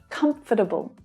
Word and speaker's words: comfortable: So hear how short and quick those schwa sounds are. Comfortable, footable, footable. Like I said, comfortable is the more common pronunciation, so I recommend that you practice using that one.